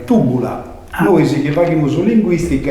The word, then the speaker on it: Tybula: si studia sul latino, sa Y greca si legge come una I, in modo però adesso tutto imbagliato. È proprio una vardina manna meda, proite, che un conto è narrare tibula e un conto è narrare tubula.